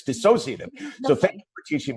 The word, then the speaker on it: dissociative: Okay, you have to give me that, because I told you how nervous I was about calling it disassociative, but it's dissociative.